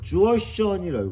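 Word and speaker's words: Jurchen: 여진족이라고 지금 우리는 읽지만 국제적으로는 여진족 하면 이거를 뭐라고 이제 읽냐면은 국제 발음 구호라고 그러돼. 이거를 그 뭐라고 했냐면 주어션이라 주어션 여진족니가 주어인 거야.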